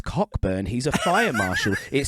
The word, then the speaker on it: Cockburn: Nigel uh Coburn and he pronounced it Coburn but spelled it [